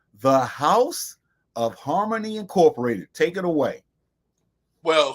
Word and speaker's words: HarmonE: then at the end we put a long e for harmony okay what we decided